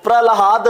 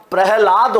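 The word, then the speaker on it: प्रह्लाद: करके लिख सकते हैं तो प्रलाद नहीं होता प्रहलाद होता है तो ये जो अशुद्धि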